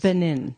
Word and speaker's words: Benin: So, and then also for the Benin tribe in Africa, which is another part of my indigenous Benin. Benin.